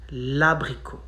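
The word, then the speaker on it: abricot: a vowel so basically you contract both the e and the a so le abrico becomes la brico you skip the letter e from the pronoun and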